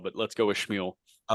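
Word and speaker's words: Schanuel: Nolan Schmuel. Yeah, I was trying to. I think his mom and dad say Shanwell, but let's go with Schmuel.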